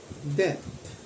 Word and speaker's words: debt: diyan ay ang kanya b ay silent napakadali ng basa de So ano ho yung de something that is old and that one is bound to pay pronunciation ho ay ano death pakinggan ho natin death de de napakasimple Ano ho silent be death so magbayad Ho